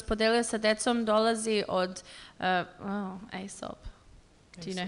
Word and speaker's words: Aesop: Priča koju sam jutros podelio sa decom dolazi od Aesop. Do you know how to say it? Aesop?